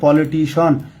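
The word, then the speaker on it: politician: দেখেনশি become পলিটিশন। উচ্চারণ কিন্তু হবে পলিটিশন।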